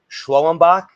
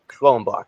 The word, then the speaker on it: Schwellenbach: I pronounce this player's last name incorrectly, Spencer Schwellenbach. Is that how you pronounce the last name? You perfectly executed that last name. Schwellenbach.